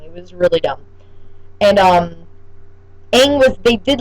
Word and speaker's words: Aang: I don't know why they couldn't say Aang instead of Ong. They had to say Ong.